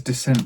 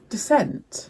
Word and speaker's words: dissent: Like there you don't know what you're talking about or you don't there's descent amongst the ranks. Yeah, I was right. Dissent.